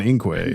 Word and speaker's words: Inque: The second time we have a aon and inquay, but they're spelled correctly and then in parenthesis within the parenthesis they're pronounced aon and inquay.